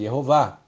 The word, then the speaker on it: Yehováh: do texto de Êxodo é uma rima e você vê para rimar somente se o nome era pronunciado jehová portanto a forma yahu